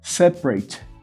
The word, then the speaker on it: separate: Average, different, separate. Set é a palavra, é a sílaba tônica, e a segunda sílaba, prate. Veja que eu não pronuncio o A. Separate.